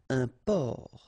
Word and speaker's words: un port: Un port. Un port. Okay, exactly the same thing here. Only the last letter is different. You don't pronounce it, and then both of them are masculine.